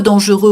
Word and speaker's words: dangereux: Enfin, le monde est un peu dangereux aujourd'hui. Autrefois, il n'était pas très dangereux. Ouais. Hein, sans prononcer la consonne finale.